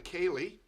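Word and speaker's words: ceilidh: Sure, that is called a Kaylee. I'm not going to pronounce or spell it, but it's K-A-Y-L-E-E for us Americans.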